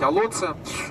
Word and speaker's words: Олонце: в Ладейном поле, в Олонце, точнее, правильно сказать, Олонце, потому что тоже название карельское, ударение в карельском языке тоже на первый слог.